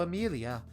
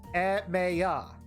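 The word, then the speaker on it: Emiya: Zero Amelia. That's a weird name. Oh, that's wrong. That doesn't sound like a western name. You pronounce it Shirro Emmea. Emma.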